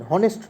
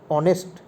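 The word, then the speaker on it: honest: অ্যান এয়ার, এয়ার মানে উত্তরাধিকারী, hour মানে ঘন্টা, এয়ার মানে উত্তরাধিকারী, হেয়ার নয় কিন্তু উচ্চারণটা হচ্ছে এয়ার। অ্যান অনেস্ট ম্যান, হনেস্ট নয় কিন্তু, অনেস্ট।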